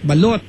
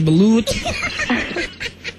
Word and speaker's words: balut: spelled with you what it's spelled with you yeah balot we say that balot ' ba you don't say balut Okay Pwede ba do not